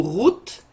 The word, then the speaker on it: Ruth: particulier dans l'histoire alors ruth ou route en prononciation hébraïque veut dire qu'on part